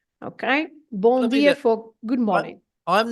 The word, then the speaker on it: bom: And so the first word, bon, it has an M at the end, and this M at the end is not to be pronounced as a M sound, as an M sound. It's just there to make the nasal sound of the O in this case. So the word is bon, bon dia.